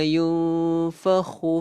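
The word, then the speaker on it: يُنْفَخُ: So kita bacanya dengung. Yauma YUNG lebih kurang.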